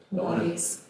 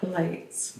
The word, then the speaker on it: Pilates: Pates for a reason pilates pilates maybe have not say it right pilates pilates all right not polites but it's not but